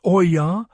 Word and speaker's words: olla: This ancient system known as the Ola, pronounced oya, might just be the droughtproof secret your modern garden needs.